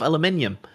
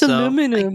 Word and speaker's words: aluminium: And I see chat making fun of my pronunciation of aluminium. Uh so yeah, I I see that. I I see that it's aluminum.